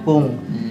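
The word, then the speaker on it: くん: 二藤君ねえ二藤君ってちょっとよくない Dalam pronunciation-nya bahasa Jepang, kung ya.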